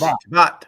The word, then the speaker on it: Chabot: I love Chris and Jacob Chabot. Is that how you say it? Of course, Shabbat.